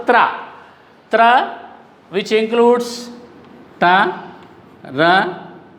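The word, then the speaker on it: त्र: Sanyuktakshar second letter is pronounced tra.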